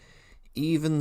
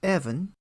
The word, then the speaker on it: Even: Can I have Even Stevens to the stage, please? Hi, my name's actually pronounced Evan. Sorry about that. There must be a typo on my sheet. It's spelled E-V-E-N here.